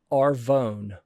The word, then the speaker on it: Arvon: This one is RV Vo N. and they said it's pronounced Arvone.